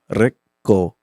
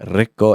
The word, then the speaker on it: Rico: Rico. With the roll of the tongue. Yeah, Rico.